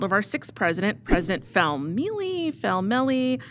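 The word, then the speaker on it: Felmley: The idea of homecoming was the brainchild of our sixth president, President Felmeli. It's pronounced Felmeli.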